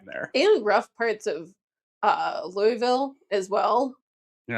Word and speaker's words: Louisville: And rough parts of Louisville as well. You're not saying it right. Louisville.